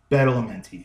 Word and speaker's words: Badalamenti: know this composer named Angelo Badalamenti I think that's how you pronounce it I think it's on it's on the back uh yeah Badalamenti yeah I pronounced it right but anyway so most